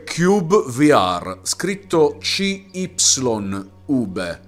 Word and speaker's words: cyubeVR: Questo è Cube VR, scritto CY. Ube. Però vi assicuro che si pronuncia Cube VR, anche perché c'è una voce nel menu principale che dice Welcome to Cube VR.